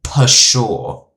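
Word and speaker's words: pshaw: Oh, often pronounced per sure. Per sure.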